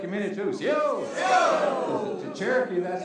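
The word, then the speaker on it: Osiyo: C-O. Say it like you mean it too. C-O.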